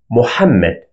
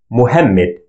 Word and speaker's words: Muhammad: popular name in Arabic Muhammad many non-natives used to spell it Muhammad with h sound instead of ha sound because there is no ha sound in English it's very unique sound